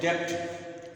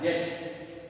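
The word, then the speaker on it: debt: हमने क्या लिखा है आप लोग पढ़ोगे डेप डेप नहीं होता यह होता है डेट इसका इसका उच्चारण क्या होगा डेट हो तो अब ये ब जो है साइलेंट है ये ब जो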